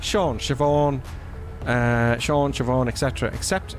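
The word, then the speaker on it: Siobhán: every time Shannock saying every time you see a word beginning with s in Irish pronounce it as sh so s in the Irish language so it's like Sean Siobhan uh Sean Siobhan Etc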